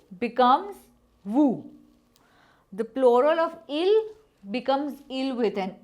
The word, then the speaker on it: ils: This pronunciation is not ils and els, it is il and el.